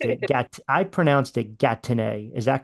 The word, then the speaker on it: Gatineau: EAU at the end of words in French. It would be pronounced like O, so it'd be like Gatineau.